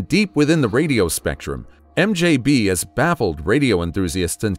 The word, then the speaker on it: MDZHB: MDZHB, mostly pronounced as MJB, is a mysterious radio